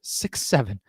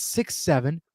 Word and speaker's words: 6 7: the internet trend with the numbers 6 7. It is the internet trend for kids to say these numbers, and the dictionary defines it as, quote, pronounced as 6 7, never 67, and has a vast lore.